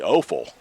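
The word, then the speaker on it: Offel: I called him, I had it pronounced awful. It's actually Offal, O-F-F-E-L.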